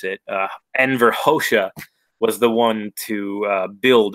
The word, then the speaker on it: Enver Hoxha: kosha because Rodin's telling me that's how to pronounce it Enver Xhosa was the one to build all those bunkers